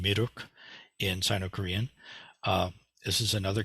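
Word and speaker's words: 미륵: It's pronounced Miruk in Sino-Korean.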